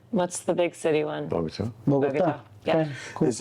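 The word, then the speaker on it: Bogotá: Pronouncing Medellin. Medellin. That's it. Yeah. And then what's the big city one? Bogota.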